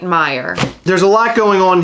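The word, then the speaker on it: Meijer: nearly impossible to find I think it's Meyer how do you pronounce m-e-i-j-e-r Meyer okay you're right Meyer there's a lot going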